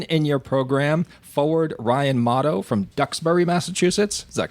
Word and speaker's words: Mottau: Maine Nordiques, number 10 in your program, forward Ryan Mottau from Duxbury, Massachusetts.